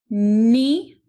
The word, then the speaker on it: knee: the sound that they have in common knife knee knock what sound do you hear in knife